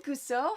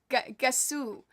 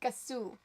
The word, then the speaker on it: Gasu: I gotta pronounce this correctly. It's not... I said Gusso before and I was right. It's Gusso, right? Because everyone was correcting me after you weren't here. Like, the next stream was like, Gusso is a different, like, an ooh. I think I said it right. Hi, Gusso. How are you? Wake the fluff up. Why do I name these things? Gasu. Oh, that's... Okay, it was Gasu.